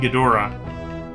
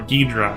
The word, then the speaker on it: Ghidorah: And it should be King Ghidorah, or Ghidra, however you want to pronounce that. It could be pronounced both ways, I guess.